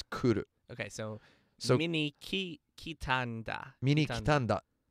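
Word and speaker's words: 来る: That kanji is pronounced ku, but every time it's conjugated, it becomes a ki.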